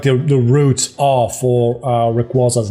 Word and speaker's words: Rayquaza: I tend to say Rayquaza, but I kind of go back and forth on Rayquaza, to be honest.